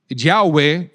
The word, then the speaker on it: Yahweh: Eh, es el sustituto de Yahweh, lo que se pronuncia Yahweh, porque realmente son cuatro consonantes eh